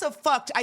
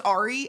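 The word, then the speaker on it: awry: I thought it was Ari until college. Someone I had to read out loud and they were like, "Did you just say she's Ari?" And I was like, "Yeah, she's Ari.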